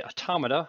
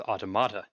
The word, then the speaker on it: automata: I will make a quick note that throughout the document, when I was trying to say automata, I put the emphasis on the wrong syllable and came out with automata.